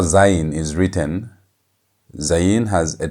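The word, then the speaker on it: זַיִן: Z has the zed sound as in zebra. And notice how it's written. This is how zen is written.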